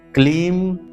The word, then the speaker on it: क्लीम: ओम ह्लीम श्रीम क्लीम नमः। यहाँ पर ह्लीम है, ह्रीम नहीं, ह्लीम, लीम, ह्लीम श्रीम क्लीम, यहाँ पर क्रीम नहीं, बहुत से लोग क्रीम कहते हैं, क्रीम नहीं, क्लीम नमः।